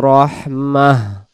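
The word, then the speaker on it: رحمة: সুআন আও আরাদা বিকুম রাহমাহ। গোলতাটা হা হয়ে যাবে। রহ জবর রহ আর মিম হা জবর মাহ, উচ্চারণ রহমাহ। ওয়ালা ইয়াজিদুনা লাহুম মিন দুনিল্লাহি ওয়ালিয়্যা ওয়ালা নাসীরা।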